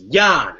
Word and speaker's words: Jahn: Well, it's Jahn, and it's pronounced Jan, and I'm proud of it.